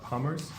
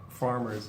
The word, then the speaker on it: farmers: For farmers, you were saying like you were pronouncing it kind of like palmers, but farmers is yeah.